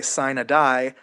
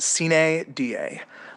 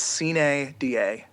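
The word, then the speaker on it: sine die: session in Annapolis and they say sign a die that they're wrong that's not how it's pronounced it's pronounced c da uh literally c means without da means day um it's it's pretty similar actually to um to to Carpe DM get it right it's c da not sin a die thank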